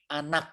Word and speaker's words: Anak: Keturunan Anak, bukan enak ini, harusnya anak dibacanya.